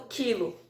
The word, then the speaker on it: quilo: pronúncia da letra u que é por exemplo o caso do quilo tem vocês podem escrever o quilo onde não tem a pronúncia do u tá então essa número